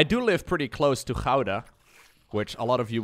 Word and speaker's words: Gouda: I do live pretty close to Gouda, which a lot of you would pronounce as Gouda.